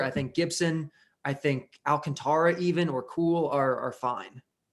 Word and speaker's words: Alcantara: I think Keller, I think Gibson, I think Alcantara even or Cool are fine. I appreciate that you pronounce his name correctly.